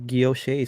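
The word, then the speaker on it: guilloché: gyosh is probably right guilloche would add add an a at the end well though the i don't know that that accent on top of the e is pronounced a right so guilloche sounds great hey we're all canadian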